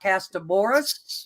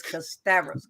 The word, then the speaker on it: Kasterborous: to correct them so let me correct everyone is not Casta Boris it's not consumerous it's cassavis con custavors yes we